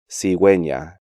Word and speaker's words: cigüeña: The U with two dots over it in these sequences is pronounced like the normal glide U in ordinary diphthongs. Agüero, cigüeña, desagüe, bilingüe.